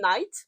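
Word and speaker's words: Nyte: Puis elle va se lier d'amitié et probablement plus parce que c'est un romantasy avec, il s'appelle Knight, mais ça se prononce, ça s'écrit N-Y-T-E.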